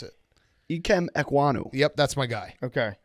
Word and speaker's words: Ikem Ekwonu: Hank, you pronounce it. Ikem Ekwonu.